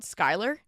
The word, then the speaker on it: Schuyler: so people can see I would say it's like school year julier Schuler but I'm like but we're all like no it's Skyler we live here and